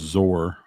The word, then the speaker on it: XOR: programming thing where xor it's pronounced zor oh okay and yeah